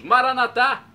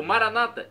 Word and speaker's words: Maranata: aramaico dialeto de Jesus Maranata como dizemos nosso católicos com a tônica na última sílaba o Maranata como dizem nossos irmãos separados os evangélicos ou protestantes com a tônica na penúltima sílaba não importa pronúncia o